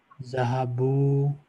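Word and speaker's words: ذهبوا: Zahabu, Alif is silent. Zahabu.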